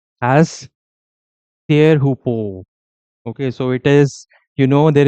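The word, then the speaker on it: Teahupo'o: So so it is actually pronounced as Tearhupo.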